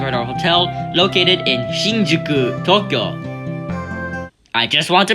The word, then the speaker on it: Shinjuku: our hotel located in Shinjuku Tokyo I just want to make this clear it's pronounced Shinjuku if I hear anybody name it Shinjuku or anything along the lines of that I will personally hunt